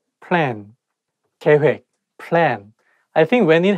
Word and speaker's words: 계획: accident So I went to the police department 계획 plan 계획 plan I think when It has double vow